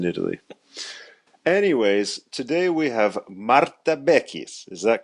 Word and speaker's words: Marta Bechis: it works in Italy anyways today we have Mara beis is that correct did I say that right perfect Mara beis perfect pronunciation yes I know I've been working on